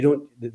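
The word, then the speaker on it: Dubh: how to pronounce it yes d-u-b-h but you don't sorry BH Is So Silent yeah so so it's do yeah I'll remember that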